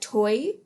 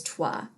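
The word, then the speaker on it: toi: respond either casually and a lot of people pronounce that toy and it is not toy it is trois and that means and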